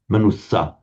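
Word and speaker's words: manussa: manusa manusa in fact if you're careful about pronouncing the double consonant as double you'll kind of automatically get it right anyway even without thinking if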